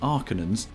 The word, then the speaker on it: Harkonnen: The villains, the Arconans, whose name is pronounced differently in this version, with Arcanans.